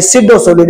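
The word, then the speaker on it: pseudo solid: इसको सिडोसोलिड पढ़ा जाता है। पी साइलेंट होता है। तो ये सिडोसोलिड है। ठीक है? जैसे साइकोलॉजी में पी साइलेंट होता है। उसी तरीका से सिडो सॉलिड में भी पीसाइलेंट होता है।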